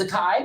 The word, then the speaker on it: Zakai: And Zakai, first of all, I'm pronouncing your name correctly. It's Zakai, right? Yes.